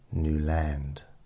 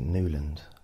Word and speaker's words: Newland: you don't mean Newland I said no new land I've got 800 recordings where I say new land at the beginning of them I don't need a complete stranger telling me how to pronounce my own name ah but how does